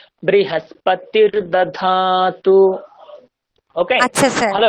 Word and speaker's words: बृहस्पतिर्: তারপরে বৃহস্পতির দধাতু, ওখানে দেখুন কোনো দীর্ঘ নেই, বৃহস্পতির টানলে হবে না, বৃহস্পতির দধাতু।